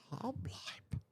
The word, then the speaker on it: Halbleib: get to talking about Hoblite. Okay. HALBLEIB. okay, that is not at all how I thought you would spell that last name, because what I hear is Hoblite, like HOBLIGHT or something.